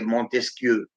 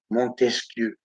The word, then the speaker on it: Montesquieu: la loi de Montesquieu, comme le disent bien les Arabes, les Montesquieu, les Arabes, ils ne savent pas dire prononcer Montesquieu, Montesquieu, l'élégance de la langue française, Montesquieu. Puis-je, madame, vous baiser la main?